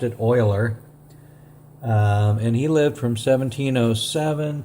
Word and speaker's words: Euler: Swiss and that's how he spelled his name pronounced it Euler and he lived from 1707 to 1785 his